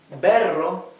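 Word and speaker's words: berro: Water Crest so ber see that when we have a double r in the middle of the word it sounds the like the the rough r the same as when it is at the beginning of a word you see and AA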